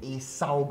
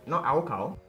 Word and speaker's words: acyl: He's going to show you how to put in an acyl group. Now notice my pronunciation, not alkyl. Acyl, the C, okay?